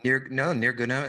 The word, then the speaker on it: Nirguna: and you can help me with the pronunciation, Nirguna Brahman and Saguna Brahman, right? Yes, that's right. right. I say that better than I did? Nirguna and Saguna is good.